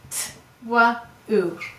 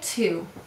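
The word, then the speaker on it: two: And this is silent. We say 2. I wonder if at one time in English it used to be pronounced twu, and if over time the w was dropped.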